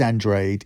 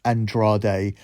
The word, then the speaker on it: Andrade: It is Andrade, it's not Andrade, as it's spelt, and we got that